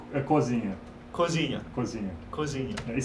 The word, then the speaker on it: cozinha: Cozinha. Cozinha? Cozinha. Cozinha. Yeah, very careful when you say this word because it's very close to a very dead okay, word.